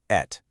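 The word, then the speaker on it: את: It's pronounced at.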